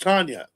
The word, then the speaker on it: Tanja: Her name is pronounced Tanya.